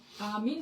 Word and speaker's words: आमीन: पहले लैटिन, फिर इंग्लिश और हिंदी में इसको फिर आमीन कहने लगे।